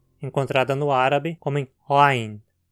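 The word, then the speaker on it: عين: Para pronunciá-la, posicione a boca como se fosse falar a vogal A, com a mandíbula e a língua bem baixas. Agora, tente empurrar a língua para o fundo da garganta e vibre as cordas vocais.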